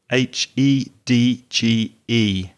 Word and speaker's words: hedge: one is your hedge h e d g e hedge that sound at the end of the word is the same sound as in judge or june july january so hedge what's a